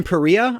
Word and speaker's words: Perea: character in this is played by Brandon perea I think is how you'd say his name and he's awesome as